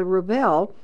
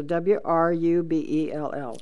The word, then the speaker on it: Wrubell: And then there's a Wrubell, is the way you pronounce it, but there's a W sitting there. So Wrubell You got it.